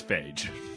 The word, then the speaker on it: Feige: Feige. Actually, it's Fagee.